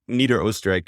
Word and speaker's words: Niederösterreich: And the main region that the article focused on was Niederösterreich, is how you say it in Austrian, is